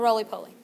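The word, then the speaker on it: roly-poly: is that bug Oh Rollie pollie everybody knows that it's Rolly because it rolls up and it's pulley because pulley rhymes with really duh right when you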